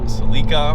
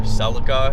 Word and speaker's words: Celica: other vehicles of course the uh seleka or celica if you want to pronounce it that way the 3s gte here